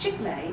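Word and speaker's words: chicle: some of the words the word c-h-i-c-l-e is pronounced chick-lay in spanish and it's a word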